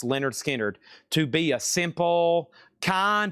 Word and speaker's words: Lynyrd Skynyrd: And Lynyrd Skynyrd, pronounced Lynyrd Skynyrd, To Be a Simple Kind of Man.